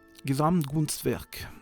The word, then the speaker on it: Gesamtkunstwerk: artefact, art, voilà, art, faudrait le prononcer à l'allemande, ce qui est complètement ridicule, puisque il n'y a pas plus latin que le mot art.